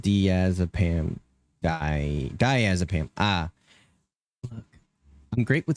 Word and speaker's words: diazepam: It's pronounced diazepam.